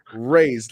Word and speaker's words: Rays: guys don't know, but I've been calling him Rays. Please pronounce it like that, because when I first met Rays, I botched his name completely. And Q had to correct me multiple times, bro. It's just Rays.